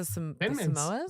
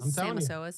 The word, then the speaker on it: Samoas: Mine's the Samoas. Samasoas. The Samasoas. That's not actually how you say it because that's just how I say it. I say Samasoas.